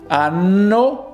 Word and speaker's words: anno: Anno with double N. It kind of stressed out the consonants.